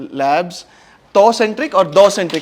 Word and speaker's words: Thoucentric: the entire team of Thoucentric Labs. Thoucentric or Thoucentric? How do you pronounce it? THOU, the Shakespearean thou. Okay. Thou shalt not kill, thou shalt not commit adultery. That thou. Yes.